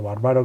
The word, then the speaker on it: Barbaro: bárbaro barbaro volcó no no se dice bar de los bárbaros sino barbaro que era una familia